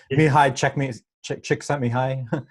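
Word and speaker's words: Mihaly Csikszentmihalyi: So I'll butcher the pronunciation, but it's a Hungarian psychology, it's a Hungarian name, Mihai Csikszentmihalyi.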